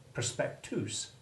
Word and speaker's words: prospectus: shall come to shortly prospectus rhyming with moose it is a terrible